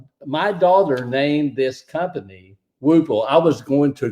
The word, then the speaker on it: Whoople: It's not Not Wapple. like No, it's not Wapple. It's not Whoople. It's not Whoopee. It's not anything. It's Whoople. Whoople.